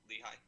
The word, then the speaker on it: Lehigh: He's the assistant athletic trainer at Lehigh. Is that how you say it, Ryan? It's Lehigh.